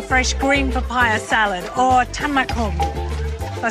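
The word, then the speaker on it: tam mak hung: And they're making the amazingly fresh green papaya salad, or tamakum.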